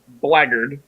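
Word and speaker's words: blackguard: prestige classes that exploit that space yeah the blaggard which is actually how it's pronounced cousin since the whole consult means a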